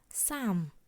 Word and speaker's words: Psalm: Here P is silent, so it is pronounced Psalm.